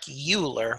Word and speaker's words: Euler: called the Euler number EUL ER looks like Euler but actually that's pronounced Euler so it's called the Euler number